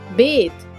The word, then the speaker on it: bathe: बेथ। BATH हो तो उसे हम बात पढ़ेंगे, और अगर BATHE स्पेलिंग हो तो हम उसे बेथ पढ़ेंगे।